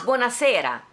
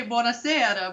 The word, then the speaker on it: buonasera: And they said buonasera, and I'm like, oh, I'm saying it wrong. It's buonasera. I say buonasera, but they said it different there in Florence for some reason.